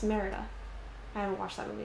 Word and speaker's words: Merida: It's like a mix of Pocahontas and Merida. Meredith. You know, it's Merida.